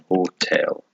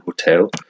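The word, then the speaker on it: hôtel: same word except that the H is silent in the hotel to look down and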